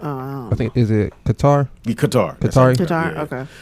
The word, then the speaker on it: Qatar: Tangie Quitar? Yeah, it's pronounced, but don't pronounce the Q that way. I think it's Oh. another way you say it. Oh, I think is it Qatar?